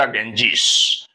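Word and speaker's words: Ganges: before ganga the ganga or sometimes we say the genjis the genjis it's better for us to say the g ganga because uh the English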